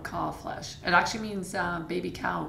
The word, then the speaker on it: Kalbfleisch: It is, and the B is silent. Okay. So, Kalbfleisch.